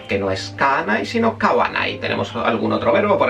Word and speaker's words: kawanai: O sea que kaimas no es kanai, sino kawanai.